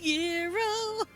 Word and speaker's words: gyro: he's going to get a gyro although it's technically pronounced hero I'm still gonna go